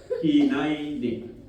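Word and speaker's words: הנני: each respond with hinini it is pronounced as hinini hin so gagay din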